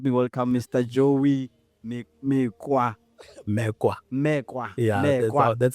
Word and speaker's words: Mekoa: Mekoa. Yeah, that's how it's pronounced.